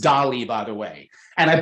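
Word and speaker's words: DALL·E: uh uh e yes e so but it's pronounced doly by the way and I believe I'm looking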